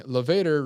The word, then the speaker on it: levator: Levator rhymes with Darth Vader.